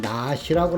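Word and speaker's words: נחש: 뱀은 낫이라고 합니다. 낫이. 첫 번째 글자가 눈인데요. 눈이라고 읽습니다.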